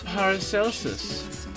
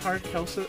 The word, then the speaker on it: Paracelsus: he became known as paracelsus is it park elsa i don't think i don't think you would pronounce that with a hard c i think that would